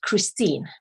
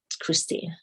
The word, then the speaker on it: Kristin: is actually it's pronounced christine it's spelled k-r-i-s-t-i-n okay but i pronounce it christine you know my dad